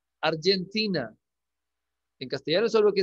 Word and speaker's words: Argentina: En inglés se pronuncia Argentina. En castellano es obvio que es Argentina. ¿Sí? Pero en inglés es Argentina.